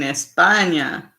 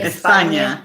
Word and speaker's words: España: Your husband is from Spain, España. That's how they would say it. España. Uh-huh. Yeah, because they pronounce their S's like that.